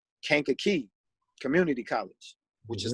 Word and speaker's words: Kankakee: You went on to do what at Kankakee? Am I saying it right? Kankakee Community College.